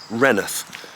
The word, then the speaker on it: Rainworth: you may have noticed I'm calling it renth and actually if you look at obviously the label on this video it's spelled rainsworth but the locals call it renth it was actually settled